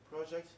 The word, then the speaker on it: project: attention to this word this is a now so we put stress on the first syllable we say it project projects okay yes thank you